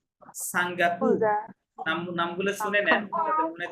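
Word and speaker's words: Singapour: যেমন যেমন দেখেন, এই যে দেখেন, এটা কুবা, সিঙ্গাপুর, নামগুলো শুনে নেন যাতে মনে থাকে।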